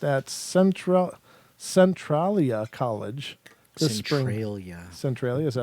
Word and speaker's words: Centralia: Centralia, is that how you pronounce Yes.